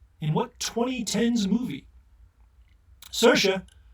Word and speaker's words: Saoirse: what twenty tens movie Saoirse rhymes with inertia Ronan makes stacked courtesans